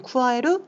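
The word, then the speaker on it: 加える: 자, 이렇게 해서 더할 가짜를 음독으로 읽을 때는 카라고 읽어주시면 되고요. 훈독으로 읽으실 때는 쿠아에루, 쿠아와루라고 읽어주시면 되겠습니다. 자, 밑으로 한번 내려가 보도록 할게요.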